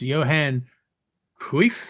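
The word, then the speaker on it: Johan Cruyff: the honor is ours but is pronounced Johan kif I don't know how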